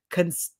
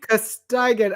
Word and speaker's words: Costigan: So her mom, Laura, was played by Gemma Williamson, and then his mom, Virginia, was played by Gina Constigan. Sorry. Gina, you ate that. Costigan. I'm sorry, I'm mispronouncing.